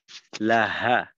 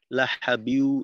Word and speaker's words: لهب: تبت يدا أبي لهب وتب জি ما রুবেল ভাই, হায়ের উচ্চারণটা লাহা, লাহা, এখানে যেন ওই হলকের মাঝে চাপ না লাগে। লাহাবিউ, লাহাবিউ না হয় এটা তো খোলাখুলি।